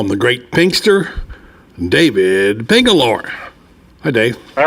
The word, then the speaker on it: Pingalore: And before finally I was reminded by JJ that it was not Pingalador, it was Pingalore.